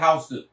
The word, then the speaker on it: Houston: Ça s'écrit Houston comme la ville Houston. Mais à New York ici la rue on l'appelle Houston. House.